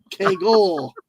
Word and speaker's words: Kagle: Yeah, the point is the hard sound. All right. Well, nobody else. People always say to me when they were always pronouncing my last name, they're like, "Hey, it's Kagle." I'm like, no, don't say the E. I'm not Italian.